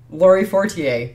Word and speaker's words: Laurie Fortier: letter a yep laurie laurie fortier so exactly the way that we were pronouncing it yep very good so